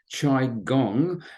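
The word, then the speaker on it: qigong: now quite calm just if you're not familiar with it it's pronounced chi gong and was developed in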